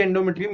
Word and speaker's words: endometrium: So यही endometrium यहाँ पे है. So how do you pronounce this? EN is N, DO is do, ME is me, TRI is tri, UM is endometrium.